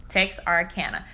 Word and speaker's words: Texarkana: Texarkana.